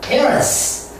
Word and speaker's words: parents: S가 어떻게 치가 됩니까? S가 정말 잘못된 것입니다. 그래서 parents S는 영원히 씁니다. S입니다. 그런데 그것이 Z로 발음을 낼 때가 있어요. Z로 발음이 날 때가 있지만 Ch로 발음 나는 것은 절대 없습니다. 절대 없으니까 이것은 parents 그렇게 발음을 합니다.